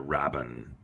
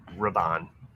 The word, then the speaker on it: Rabban: Richter Rabin. Rabban. Rabin. Rabban. Rabin. You're not putting the accents on the like syllables.